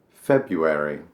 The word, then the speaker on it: February: February. February. I don't know what that R is doing in there, but I don't pronounce it.